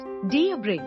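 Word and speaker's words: debris: एट the beginning three डेबी incorrect डी ब्रे correct डी बी आर आई डी बी आरई ई टिप द एस एट द एंड is silent and the stress is ऑन the second syllable four एस्प्रेसो incorrect एक्सप्रेसो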